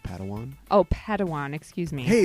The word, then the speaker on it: Padawan: I think it's pronounced Padawan.